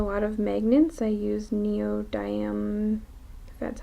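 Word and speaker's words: neodymium: also use a lot of magnets I use neo diam that's how you pronounce it magnets um and those are stuck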